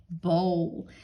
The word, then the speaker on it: bowl: soup into my bowl remember we said o w when it's at the end of words says the o sound well this is another special word where it's making that sound in the middle oh all right now